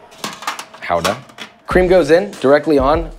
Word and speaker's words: gouda: we got a little bit of gouda technically pronounced howda i was yelled at for that howda howda cream goes in directly on boiling hot let